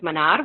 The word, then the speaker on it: Minar: So I don't think I knew that it was pronounced Minar with a rolled R.